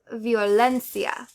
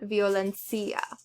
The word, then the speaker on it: violencia: So, words ending in a vowel, N or S, you're going to stress the second to last syllable. No accent mark is needed. So, you're going to say comprendo. You wouldn't say comprendo. We're going to say violencia, not violencia.